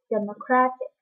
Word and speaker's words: democratic: it is pronounced as democratic and the stress is on the third syllable therefore i want to